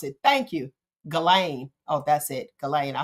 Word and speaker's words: Ghislaine: Okay, Galen is how you pronounce it. Thank you. Ghislaine.